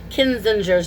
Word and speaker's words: Kinzinger: just I'm sorry, forgive me for saying Adam Kinzinger's name wrong.